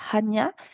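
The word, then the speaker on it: Chania: une explication historique la cané en grec c'est Hania mais ça s'écrit C Hania s'écrit C A n I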